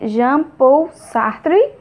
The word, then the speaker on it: Jean-Paul Sartre: alemão emmanuel kant e o francês jean-paul sartre pronuncia assim é jean-paul sartre emmanuel kant e sócrates normal né ainda bem